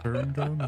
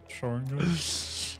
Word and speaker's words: Sharingan: It's actually officially pronounced the Sharingan. it's not Sharingan, it's Sharingan.